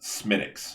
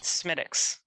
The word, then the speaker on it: Smithwick's: Which, yes, by the way, people, if you don't know, that it looks like Smithwick's, it is pronounced Smittix. Smittix. Almost all THs in Irish are hard T.